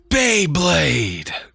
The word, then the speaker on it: Beyblade: again beyblade burst good the right way to say it is beyblade yeah and then the